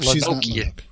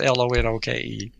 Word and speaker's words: Lonoke: If you spell it out, it looks like Lonoke. If you spell it out, but it's Lonoke.